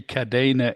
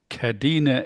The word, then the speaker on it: Kadena: Well, it it's actually Kadena in English and it's Kadina in Okinawan.